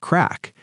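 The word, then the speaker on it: craic: It's spelled C-R-A-I-C, but it's pronounced like crack.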